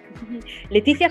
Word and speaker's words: Laetitia: noticia soy francesa llevo leticia como la reina pero no se escribe